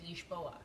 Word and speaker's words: Lisboa: we wanted to know how to actually how to pronounce it as Portuguese people would pronounce it and they said ish boa so um I always